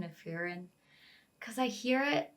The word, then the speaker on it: Frieren: with the pronunciation of furin cuz I hear it I always hear like a little slight roll of the RS but for the life